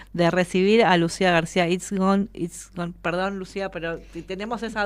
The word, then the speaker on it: Itzigsohn: Es Itzigson. Bien. Itzigson. No, tiene muchas consonantes, entonces parece difícil, pero...